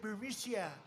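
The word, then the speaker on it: Burisma: this uh buremicia burmucia they say pronounce it burisia a real beautiful company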